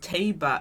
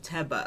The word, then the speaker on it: Teba: She says Taba instead of Teba.